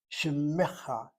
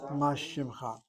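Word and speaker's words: שִׁמְךָ: That's why I'm pronouncing the word mashim, shimmecha, not mashimcha. That's a dagesh chazak, correct.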